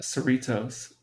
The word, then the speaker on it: Cerritos: Cerritos. Cerritos. Yeah, it rhymes with Doritos.